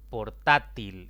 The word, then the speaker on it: portátil: Portátil es otra palabra de 3 sílabas. La mayor intensidad cae en la penúltima sílaba y como termina en otra consonante que no es ni N ni S, debo colocarle tilde.